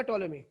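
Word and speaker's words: Ptolemy: तो भाई सबसे पहले एक साइंटिस्ट आए जिसका नाम था, स्पेलिंग लो, PTOLEMI, टोलेमी। पी साइलेंट रहता है इसमें, याद रखना, पी साइलेंट रहेगा, टोलेमी।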